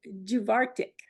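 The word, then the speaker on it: Dubh Artach: If I may butt in, I did ask a Scotsman one time about the pronunciation of that, and he said it was like Juvartic.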